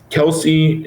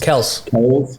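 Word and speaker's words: Kelce: know what that is it's pronounced kels kels it's not weird but no one's gonna ever call him that ever ever yeah he's like yeah it's it's pronounced kels but they call me kelsey so i just kind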